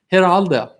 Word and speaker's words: Geraldo: geraldo geraldo i'm sorry geraldo hit aldo rivera it's like kamala if you don't say it right you're a racist so gerald i apologize to my hispanics i should know better i'm part puerto rican so here aldo live there my bad geraldo